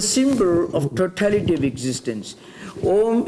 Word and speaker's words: Om: of totality of existence ohm is a combination of three sound systems ah-hoo and mah eyes pronounced with open my vocal cords open MA is closed and who is being between so all the human